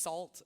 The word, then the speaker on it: NaCl: It's pronounced "salt" which is like -- ugh, whatever.